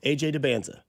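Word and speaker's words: AJ Dybantsa: That's his AJ Debanza.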